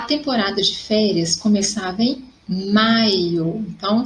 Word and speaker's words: maio: Então, olha a diferença. Maio, maiô. Então, em maio, a sílaba forte é mai.